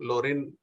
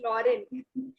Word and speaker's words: Lauren: out I'm sorry but the pronunciation of my name is Lauren it goes like Lauren yeah actually proper noun